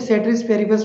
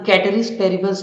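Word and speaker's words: ceteris paribus: सेटरिस पेरिबस मतलब, इसे actually सेटरिस पेरिबस pronounce नहीं करते हैं, इसे हम कैटरिस पेरिबस ही प्रोनाउंस करते हैं इसके एक्चुअल लैंग्वेज में।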